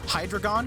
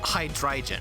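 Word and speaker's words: Hydreigon: the most because i i either hear hydrogon which is fair you probably don't understand the german pun and you're just seeing hydra dragon hydragon that makes sense fair enough but the other one i've heard mostly from people who understand the pun they say hydrogen which i disagree with because its name is a combination of hydra dragon and the german word for three dry i'm not gonna bother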